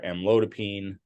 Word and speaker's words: amlodipine: p i n e which is not pronounced Pine it's actually pronounced peen um and so the most common ones we would see are amlodipine uh felodipine or nifedipine